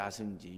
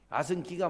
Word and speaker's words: 아승기: 우리는 옛날에 그 배울 때 아승지라고 그랬는데 아승지 요즘에는 아승기라고 그래. 그 학자들한테 물어보니면 아승기가 맞다고 그래.